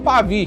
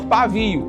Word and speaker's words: Pavie: E como o nome dele era um nome difícil para as pessoas pronunciarem na época, elas não falavam Dr. Pavi, elas falavam Dr. Pavo. Hoje eu vou lá no Dr. Pavio para ele me atender.